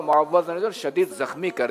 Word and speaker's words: معوذ: معوذ دیکھ لیجیے تلفظ. جواب درست ہے. اب معوذ بھی بول دیں.